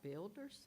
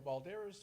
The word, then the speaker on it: Balderas: it looks like Builders, I'm probably not pronouncing it. Balderas, okay, sorry. Ooh, I skipped over Richard. Good evening, County Commissioners. My name is Balderas.